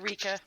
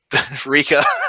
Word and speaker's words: Rika: Incidentally, Marion, it might amuse you to know that the pronunciation of that, if not necessarily the spelling, was taken from Sam Riegel's character in Pillars of Eternity 2: Deadfire.